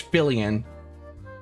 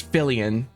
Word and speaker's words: Fillian: okay anyway um so her name's fillian it's fillian by the way in case you guys were wondering jingle jingle I got